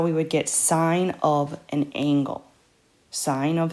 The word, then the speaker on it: sine: have the sine function we would say sine like this don't say sin or s-i-n we still pronounce it the same we still say sine and if we're saying